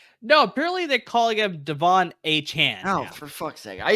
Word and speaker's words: Achane: That is Devon Achane. Now it's Devon Achane.